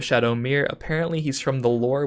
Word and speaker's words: Shadowmere: some competitive play is Shadow Mir or shadowme I'm not entirely sure how to pronounce this card chat corrected me and said it was Shadow Mir apparently he's from the